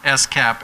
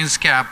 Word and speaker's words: SCAP: to be credible that you pronounce it s cap and nots cap if you start saying this cap people are gonna think you don't get it so if you